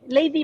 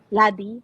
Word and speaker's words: Ladi: Lady ba? Lady? Is that how you say it? Ladi po. Laddie?